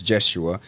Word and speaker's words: Jeshua: my name be like hm how do you pronounce it so it's it's jesua but um my name means Jesus in in